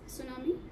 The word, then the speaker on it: tsunami: The T is not pronounced. It's tsunami, right?